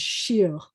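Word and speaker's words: שיר: This word is sh with an E and a R is shir.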